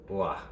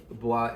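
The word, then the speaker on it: bois: all those Moroccan boys no it's ba baah ba Moroccan baah is wood in French I know that I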